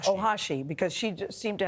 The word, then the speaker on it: Ohashi: Ohashi, because she just seemed to have such joy in her routines.